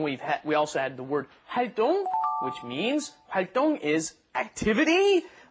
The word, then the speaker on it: 활동: And one last thing we heard, 동아리 활동, and you're gonna hear 활동 a lot. So practice the pronunciation. It's spelled 동, but it's actually 똥, like when you go to the bathroom. 똥, okay? 활동.